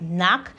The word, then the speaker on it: knock: K Kids kits okay but right here we have knock it was silent and like we have